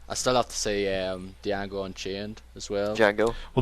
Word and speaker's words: Django: Yeah, I might go see Django this week actually. It's Django. Django, not The Django. D, the D is silent.